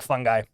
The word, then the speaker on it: fungi: just just blacksmithing no you say it like fungi I say it like fungi which of the 24